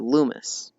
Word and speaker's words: Lumis: read that Lumis and the mass part is pronounced same way you would pronounce it in the word Christmas okay so Lumis I see I see